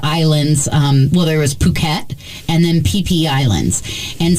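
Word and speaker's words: Phuket: PP cool yep puket cuz puket is spelled pH also right not fukat it's puket uhhuh and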